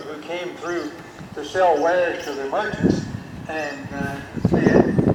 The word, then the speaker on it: Weir: Ware, he spelled it W-E-I-R. It looked like Weir, but they pronounced it Ware.